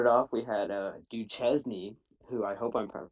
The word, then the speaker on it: Duquesne: the game Duquesne okay there's a high school near my town called dude Chesney's and that's what I'm used to Duquesne operatio 49 to 34